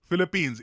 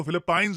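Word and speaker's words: Philippines: है इंडिया के लिए फिलिपींस इसको फिलीपाइन नहीं प्रोनाउंस करते हैं हम काफी बार इंडिया में हम लोग फिलीपाइन बोल रहे होते हैं फिलिपींस देखिए एक बहुत ही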